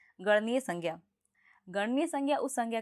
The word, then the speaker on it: संज्ञा: बनता है इसका उच्चारण ज्ञ नहीं होता है बल्कि इसका उच्चारण ज्ञ होता है तो इसका सही उच्चारण संज्ञा नहीं बल्कि संज्ञा होगा तो शायद अब आप